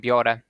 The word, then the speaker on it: biorę: And word final ę is pronounced e, as in biorę and się.